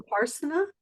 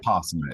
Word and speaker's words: Vipassana: Upassana. Is that the right way to say it? Vipassana. It's called Vipassana in Vipassana.